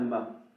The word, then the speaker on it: mas: comtoises, ou une bicoque, ça s'appelle un mât, M-A-S. Et le S ne se prononce pas.